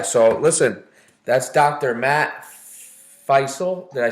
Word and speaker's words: Fisel: Matt Fisel. Did I say it right? Fisel, yeah.